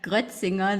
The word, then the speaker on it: Gretzinger: just call me sarah i know that gretzinger that's the surname in german but you nearly pronounce it like that it's hard to say for a lot of internationals so i'm talking to